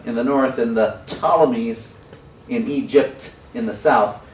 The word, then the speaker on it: Ptolemies: And then another group in Egypt, and they are known as the Ptolemies. So the P is silent on Ptolemies, but turn to your neighbor and say Egypt.